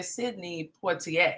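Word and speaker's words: Sidney Poitier: in sydney poitiers because when you say his name you have to say sydney poitier you have to say it like you are um diane carroll in dynasty you just can't say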